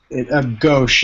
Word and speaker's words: Ghosh: And, is your last name Ghosh? Gauche. It's pronounced with an H, but spelled with an E. It's a soft H.